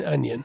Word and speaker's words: onion: of trained over that there is no G in onion you know how many